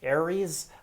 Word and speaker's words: Ares: on defense so if you are considering using airs on defense i would encourage you just use six acamena day gears on defense and to the user who tells me it is pronounced aries i'm sorry it's just a habit i pronounce